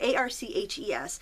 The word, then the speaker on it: Arches: watercolorists use arches paper a r c hes it's actually pronounced Arch but in America we call it arches and um if you